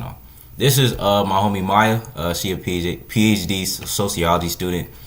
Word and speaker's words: Maya: I do pronounce it Maya, not Oh, Maya, Maya.